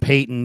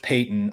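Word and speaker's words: Paton: Shawn Payeyton, and George Payton all standing in a circle together. So, try, you know, try getting that all all pronounced Payton, all spelled differently, all kind of key figures in Denver.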